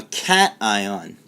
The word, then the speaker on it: cation: positive sign so a positive ion is known as a cation and negative let's go